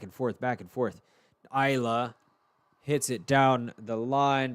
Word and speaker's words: Ajla: Like Isla Fisher, the actress. No, it's spelled a little bit differently. It's like AJLA or ALJA. Something, one of those spellings. Let's see. Yeah, AJLA, Isla.